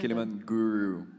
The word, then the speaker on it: Kilimanguru: Pero si Doc Kili, how do you pronounce Kilimanguru? Ano bang tama pronunciation? Yes, Kilimanguru. Guru, okay.